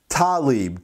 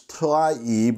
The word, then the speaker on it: Tlaib: that irks me because i'm constantly hearing s name pronounced her last name pronounced talib tali but you can see it right there it's taib it's arab it's an arabic name and that's how arabic names go so please everybody it's not talib and with that i'll